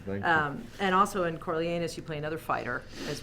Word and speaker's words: Coriolanus: Coriolanus, that's right.